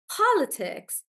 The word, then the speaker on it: politics: and Tanya are correct remember how I said if it's two or three syllables generally the stress is on the first one so in this case it's on the first one and that's why guys it's it's politics po politics like that politics and then so